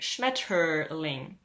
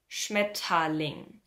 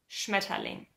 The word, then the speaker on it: Schmetterling: probably saying something like Schmetterling. Remember that most times when an R is following an E in the end or in the middle of a word, we don't actually pronounce that R.